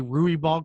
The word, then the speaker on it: Ruibal: this young woman, and her name is Alyx Ruibal. Is that correct? I say Ruibal correct, so we all get it right in the future?